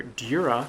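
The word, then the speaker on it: Djura: That's because, having seen the phonetic Japanese, it's now clear to me the J in his name is pronounced with a European-friendly Y sound rather than the J that I imagined.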